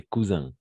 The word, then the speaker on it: cousin: la plupart du temps, les mots qui finissent en IN, on va prononcer comme un, comme matin, fin, Antonin, Antonin. J'ai un ami qui s'appelle Antonin, fin, etc. Cousin.